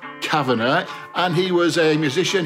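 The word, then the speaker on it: Kavanagh: Now, this is formed by a guy called Ron, whose surname is properly pronounced Kavana, and he was a musician.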